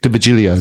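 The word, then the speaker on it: D'Virgilio: You can pronounce it better than me. What is it? Nick DeVigilio.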